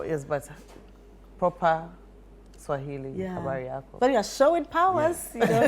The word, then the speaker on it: habari yako: Habari yako. Habari yako.